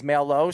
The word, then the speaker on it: Maillho: I'm going to call you the mailman because I like your last name, Maillho, and he pronounced it as Maillho, so that's how I know you.